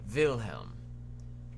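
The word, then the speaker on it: Wilhelm: derivative of Bill because William in German is pronounced with a V vilhelm take that V and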